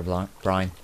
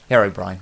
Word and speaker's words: Herobrine: little joke playing with hero blind brian blind blind brian herobrine there we go pronounce the thing correctly as you can see